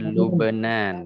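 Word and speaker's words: لبنان: Kita bacanya Lubenan ya.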